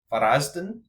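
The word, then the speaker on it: Varaždin: Dynamo Zagreb look like they've got one of the best fixtures in contender, so against Varazden, that's how you say it.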